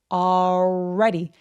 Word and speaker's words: already: 이 L 발음은 거의 없어지는 것 같은 느낌? 그냥 이렇게 벌어지고 끝나요. 그래서 already가 아니고요. 이렇게 끝나요. already. already. 그래서 L 발음 없다라고 생각해 주시고 already 발음하시면 됩니다. already 할 때 R 발음은 입술을 쭉 내미는 발음이라서 already, already 해주시면 되고요.